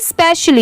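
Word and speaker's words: especially: आई एम हिम स्पेशली ई स्पेशली यहां पर स्पेशली हम लोग पढ़ते हैं ई साइलेंट है एस पी ई सी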